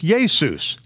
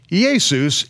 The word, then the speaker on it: Jesus: why yeah in 1611 the name now spelled jesus j esus was pronounced as yesus the same as when